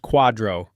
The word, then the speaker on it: QDRO: It is called a qualified domestic relations order or QDRO, pronounced quadro.